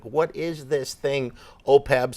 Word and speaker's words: OPEB: what is this thing, OPEB? Some of them mispronounce it as OPED and other things, but the easiest way to think about it is that it is health insurance for municipal employees.